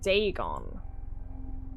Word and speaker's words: Dagon: Legend of Dagon fish God that's how you pronounce it Dagon Dagon was the main deity of the Philistines